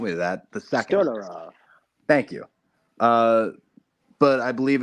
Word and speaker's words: Stolyarov: I believe his name is Gennady Stolyarov. Don't hold me to that. The second. Stodorov.